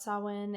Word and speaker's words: Samhain: My first thought was how it's pronounced Samhain, and it is my apologies. It is a holiday. Well, it's not your fault. They said it wrong.